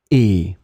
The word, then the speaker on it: et: It will be pronounced e, and it means and.